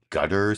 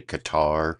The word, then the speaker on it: Qatar: people say Gutter, but I listened to him actually pronounce the name of his own country, and it actually kind of sounds like Qatar, Qatar, almost like Welcome Back Kotter for people who are as old as I am and can remember that